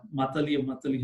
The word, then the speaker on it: Matali: Matali, how we pronounce it.